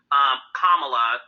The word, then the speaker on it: Kamala: No, it was definitely beautiful to see Kamala. That's how you pronounce her name, Heavenly.